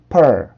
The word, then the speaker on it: pearl: 그래서 이 발음은 삿갓 발음에 R 발음이 붙은 것처럼 즉 아래 턱을 내려주고 그 다음에 R 발음을 해주시면 되는데 어라고 생각하고 발음하셔도 됩니다. 자, 해볼게요. pearl, pearl, pearl, pearl, pearl, pearl.